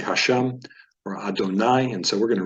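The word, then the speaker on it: אֲדֹנָי: vayomer it's a vayoma Adonai stresses in the last syllable here Adonai this course is the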